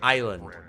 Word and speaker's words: island: And she looked at it and she's like, "No, no, it's island." Like, what? English is confusing as hell, man. Like why would the S just be randomly silent?